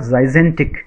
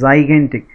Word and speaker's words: gigantic: This is not gigantic. This is gigantic. The first G is pronounced as Z, the second Z is pronounced as G, gigantic.